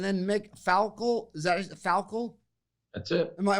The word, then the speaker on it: Falkel: My gosh, and then Mick Falkel, is that Falkel?